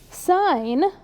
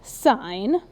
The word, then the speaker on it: sin: Sine This is pronounced sine, even though it says sin.